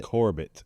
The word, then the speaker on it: Corbett: So, so when we had we had Steve Corbett Corbett on um I don't want to say his name like French. He It's Corbett. Corbett.